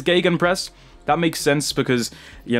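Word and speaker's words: Gegenpress: me in the comments cuz I called it GJ press like alarm me a it that's that's the English pronunciation GJ press but I've never actually heard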